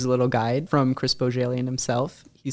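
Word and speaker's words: Bohjalian: For our listeners, here's a little guide from Chris Bojalian himself. He says bo as in ribbon, jail as in prison, and yen as in I have a yin for a good book.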